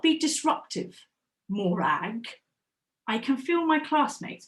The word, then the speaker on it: Morag: Morag, yeah, miss, I'm here, but actually my name is pronounced Morag, not Morag.